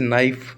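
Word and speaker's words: knife: के एन लगातार आ जाए तो के साइलेंट रहेगा हमेशा। जैसे नाइफ, है ना, नो, नाइफ,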